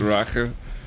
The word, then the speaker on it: Rache: I am a little bit sad that Rage over here, or how is it pronounced in German? With Rache.